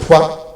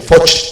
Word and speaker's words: Foix: Francia, de Luis XII, Germana de Foix, o de Foch, pronunciado al estilo occitano, que era una mujer